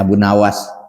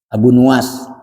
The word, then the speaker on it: Abu Nuwas: Qala syair Abu Nuwas, berkatalah syair Abu Nuwas, ada yang bacanya Abu Nawas, bidomin nuni, dengan domah nunnya, Abu Nuwas, wabil wawi, dan dengan wawu Nuwas.